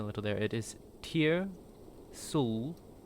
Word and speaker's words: Tyr'Sul: I I think you also put I think you also uh messed up the pronunciation a little. There it is. Tier Sul.